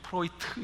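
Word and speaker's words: Freud: 영향을 받은 분이 있습니다 옛날은 프로이드 이렇게 하면 일좀 프로이트 이렇게 발음 하더라구요 이 프로이트의 역량을 받았는데요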